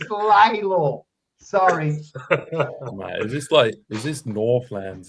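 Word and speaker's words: Lalor: No one knows how to pronounce it. Like Lola. It's Laylaw.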